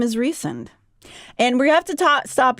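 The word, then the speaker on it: Rhysand: His name is Reend. And we have to stop here. This is how it is pronounced in the audible book. I know a lot of people in my brain I say Rezand.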